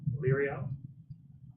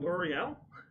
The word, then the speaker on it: Lyriel: course, the owner of the Sabled Vials is Lyriel. Lyriel? Lyriel. L'Oreal? It's Lyria. It's Lyria. Lyriel. L-I, not L-E-O.